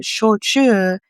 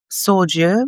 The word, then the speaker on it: shochu: Yeah, sometimes it's like it's just switched around, and so shochu is often pronounced soju, but the thing is, soju is actually a thing, but soju is a similar but different spirit that comes from Korea, and I think that